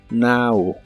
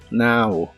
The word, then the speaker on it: now: Now que significa ahora la o se pronuncia como a en esta palabra Now Now y usaremos la palabra